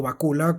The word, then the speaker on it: Bakula: manejaba, Univision, Televisa, Bill Bácula, que era su... o Bakula, como se pronuncia, el manager de él, hay de hecho un componente bastante oscuro.